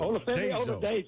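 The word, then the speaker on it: Oladejo: Ola Dejo.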